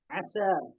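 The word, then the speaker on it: عشا: Asya. Asya bacanya dari Ain ya. Asya ya. Asya. Kalau Isya, sholat Isya. Habis sama sih, jadi pokoknya waktu-waktu jam segitu, orang-orang nyebutnya dengan kata Asya.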